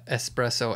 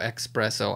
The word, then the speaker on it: espresso: a theme okay uh not being able to pronounce an s after an e and before a p or before uh no an e-x or e-s-c i'm saying maybe they can't pronounce the s you know they have